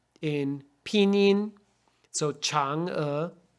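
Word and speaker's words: Chang'e: pinin so Chang uh now why do we need this apostrophe if we just write c-h-a-n-g e well that looks like the word change in English right so to make sure that people don't say her name is change we want people to say Chang uh you put an apostrophe in the middle to show that it's separate okay so Chang uh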